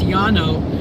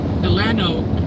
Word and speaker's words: Llano: It's actually pronounced the double L, but in Spanish it's like a Y sound. So, it's Yano and you'll see you'll hear Llano, Llano, Nano.